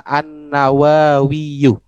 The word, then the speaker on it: an-Nawawiyu: Jadi cara baca yang benar adalah an-Nawawiyu. Nawawi. Oh, Karena iya-nya adalah iya nisbat namanya, Pak.